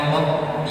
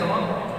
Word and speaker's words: رب: في كلمة رب لابد أن نشدد الباء فتأخذ وقتا أطول من غيرها.